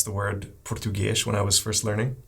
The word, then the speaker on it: português: Like it’s a ‘u’.